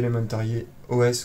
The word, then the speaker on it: elementary OS: matériaux s vous tapez lemon terrier os comme ça se prononce élémentaire sauf que c'est en anglais vous tapez ouest derrière